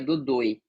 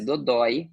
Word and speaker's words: dodói: de uma mesma sílaba, e o som é aberto, porque se fosse fechado seria dodoi, tá, mas por ser dodói, é um som aberto, por isso que leva acento.